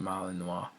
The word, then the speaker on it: Malinois: Belgian Malinois, pronounced Malinois, is a dog breed known for its loyal nature, strong work ethic, and herding instincts.